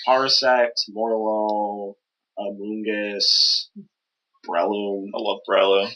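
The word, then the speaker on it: Morelull: It's spelled Morel, like the mushroom, and then with an extra UL. I thought it was Morlul. But yeah, it likely is reference to lull being to lull to sleep.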